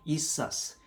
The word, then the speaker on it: ethos: 우리 말로는 뭐 에토스라고 그러나, 근데 영어 발음 뭐라고? ethos.